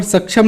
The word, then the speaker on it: सक्षम: ठीक है, तो ये होगा इसका फुल फॉर्म, इसी वजह से ये है इसकी स्पेलिंग SASCM। इसको हिंदी में सक्षम पढ़ा जाएगा।